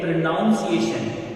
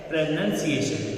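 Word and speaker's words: pronunciation: कि एक वर्ड है जिसको लोग बोलते हैं प्रोनाउंसिएशन, उच्चारण को इंग्लिश में बोलते हैं प्रोनाउंसिएशन, लेकिन उसका करेक्ट उच्चारण होता है प्रोनंसिएशन।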